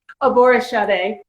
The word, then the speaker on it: Aborisade: Aborisade.